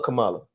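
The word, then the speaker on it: Kamala: seen he's going with camelis oh c is is is it camela or Camala camela right it's Camala Cala no they been either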